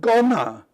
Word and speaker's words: gonna: It's not gonna. It's spelt G-O-N-N-A, but it's you say it gonna, like G-U-N-N-A, like a gunner.